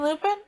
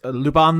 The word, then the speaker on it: Lupin: did we do rc lupin yep did i do do i pronounce that wrong probably yeah it's the it's lupon the third that's that's his name yeah but is it